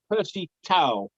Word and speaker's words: Percy Tau: i pronounced tao handbag so much for everyone's relief uh tails on for the number 16.